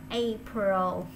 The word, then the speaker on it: April: Không có sai đâu, cũng có người đọc April thiệt. Nhưng mà đại chúng đọc April dùm nha.